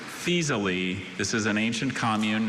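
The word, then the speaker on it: Faesulae: Fasily. Fasily. Any alterations? Just feasely.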